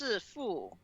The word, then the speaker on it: Sifu: But in Chinese, it's pronounced Sifu, which means master.